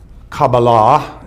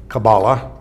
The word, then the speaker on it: Kabbalah: and connection with the kabbalah is really the true pronunciation but we say kabbalah in in our language and i think it